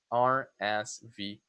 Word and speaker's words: RSVP: It's also an initialism. You say letter by letter. RSVP.